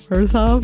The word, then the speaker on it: Orzhov: Well, the little ghosts made me think that it's Orzhov. I'm going to give you a clue. It rhymes with Borzov. Is it Orzhov?